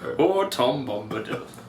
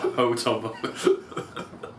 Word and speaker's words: Bombadil: I should be like, Ho Tom Bombadil. Not Ho Tom Bombadil.